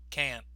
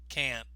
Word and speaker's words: can't: side of the screen we stress the word can't but notice we don't often pronounce the T so again that is